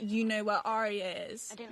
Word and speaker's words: Arya: But it's not Arya, it's Arya. It's just Arya. Arya. Like 2 syllables. Like, are you going to the ball tonight?